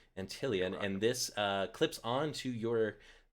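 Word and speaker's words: Antlion: a mod mic by I don't know how to pronounce that name, Anti-Lion. Apologize to our sponsor there, and what this does, it actually clips. I think it's Antillion. Antillion, thank you, Antillion, and this clips onto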